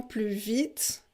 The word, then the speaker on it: plus vite: plus en plus vite on ne prononce pas le s ici parce que vous avez vite après de plus en plus vite alors dit le petit